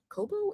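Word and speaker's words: Kobo: So, you can get it on Kindle or Coobo. Coobo.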